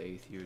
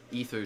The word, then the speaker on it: Aether: So fail with the Aether jumping. Ether jumping, I think it's pronounced actually. Ether. I'm pretty sure it's Ether. Yeah, it's probably Ether.